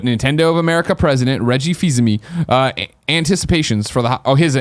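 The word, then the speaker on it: Fils-Aimé: are far from pessimism now you pronounce it fees now I screwed up overtime fees ma I panic fees that's why usually just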